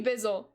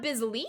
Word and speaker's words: Bizzle: I did say it right the first time. Okay. Appreciate you, Bizzle. Interesting, that's not Biz Lee, though.